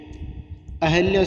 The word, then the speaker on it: अहल्या: तो इसका शुद्ध रूप होगा ए ऑप्शन, अहल्या शुद्ध है। हम जो उच्चारण करते हैं अहिल्या, वो अशुद्ध उच्चारण है।